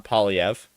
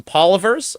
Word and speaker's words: Poilievre: bit after Poilievre we've all sort of settled on Poilievre. But after he got elected, where you watched people sort of like struggling to find a consensus on how we were all going to pronounce it, because there was some Polyvers. I think Greg McEachran, he does this guy right here. He still says Polyver a bunch.